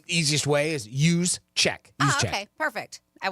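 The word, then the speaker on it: Juszczyk: Oh, use check.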